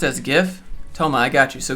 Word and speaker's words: GIF: We'll make a whole video about how GIF is pronounced as GIF with a J.